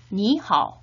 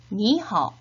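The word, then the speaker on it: 你好: 삼성 뒤에 삼성이 오면 앞에 삼성은 이성으로 자연스럽게 발음을 해주셔야 됩니다. 같이 한번 발음해 보도록 하겠습니다. 니하오, 니하오, 니하오.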